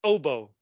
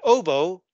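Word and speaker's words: hautboy: and then this word this is actually French uh and we read it as OBO an OBO okay in Modern English it's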